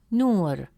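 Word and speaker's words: نور: In the word nur, meaning light, the letter nun has a damme vowel, which gives it a short oo sound, pronounced as nu. Since the long vowel wow comes immediately after nu, it stretches the short oo sound into a long oo sound. Instead of pronouncing it as nu, the presence of wow makes it nu. As a result, the correct pronunciation of the word is nur, nur.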